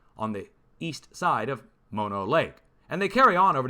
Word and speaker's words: Mono Lake: sure now going up to the border it's mono lake which i've been mispronouncing for the last 20 years i've been calling it mono lake but it's mono lake and it's rising pahoa island out of the